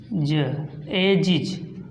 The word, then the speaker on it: ages: Okay, अब इसके बाद GE आया, इसका भी देख लीजिए, हो जाएगा आपका AGES, हो जाएगा एजिज।